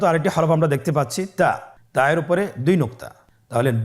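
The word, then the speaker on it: تاء: আপনারা আমার সাথে বলুন তা আবার বলুন তা এর মাখরাজ কোন জায়গা থেকে জিহ্বার আগা সামনের উপরের দুই দাঁতের গোড়ার সঙ্গে লাগিয়ে উচ্চারিত হয় আপনারা আমার সাথে আবার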